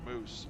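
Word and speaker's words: Maus: Mao is pronounced moose.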